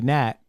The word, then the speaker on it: NAT: AI continually, you know, mistakenly refers to NAT as not Yes, yeah, they do. It's annoying, you know. Yeah, it's not. I don't I don't know why it's clearly NAT. Why are you saying it pronouncing it like not, you know?